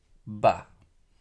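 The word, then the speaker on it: בא: the sound of A, Ba. Once again, we'll talk about the pronunciation and about the vowel signs in the next section. The Aleph is silent. Remember that.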